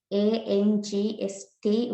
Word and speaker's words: angst: So I have problem with ANGST word. I don't know how to pronounce that. ANGST. Give me a second. I want to, let's see, ANGST. ANGST, angst. Angst. Thank you, sir.